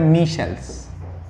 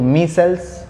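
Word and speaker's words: micelles: इसको बोलने का प्रोनाउंसिएशन बहुत अलग अलग होता है, कोई बोलता है माई सेल्स, कोई मी शेल्स, कोई मी सेल्स, ठीक है। तो मी सेल्स बोलते हैं जनरली आप, ठीक है।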